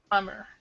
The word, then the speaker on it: plumber: far as pronunciation goes you see this B the B is silent so the actual pronunciation for this is like this hmer plumber so that's actually how